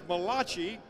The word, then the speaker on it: Malachi: of the Old Testament the original Hebrew pronounces this as malaki you know it as Malachi so if your turn